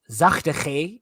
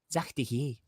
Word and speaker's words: zachte g: Because like in Dutch, for example, you would say like zachte G is saying soft G, but then if you actually say it with the soft G with the southern accent, it's zachte G.